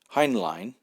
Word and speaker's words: Heinlein: At the time, Heinlein, as it should be more accurately pronounced, was working as technical